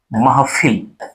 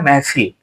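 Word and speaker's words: महफ़िल: जैसे शब्द लिखा हो महफिल, शब्द लिखा हो महफिल, जल्दी से उच्चारण में आदमी कहता है महफिल, महफिल कहता है महफिल।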